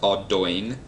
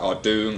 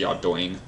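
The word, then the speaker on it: Ardougne: Despite what it's spelt, it is actually pronounced Ardoing. It looks like Ardoong, Ardugny, Ardown. It's actually Ardoing.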